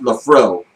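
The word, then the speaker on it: Laphroaig: a friend of mine admitted that he loved Lafrog, but he said it's pronounced Lafro.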